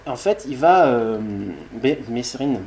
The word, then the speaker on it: Mesrine: fait il va vite mesrine père merrin disait ça se prononce pas donc on va dire mérine des proches va parler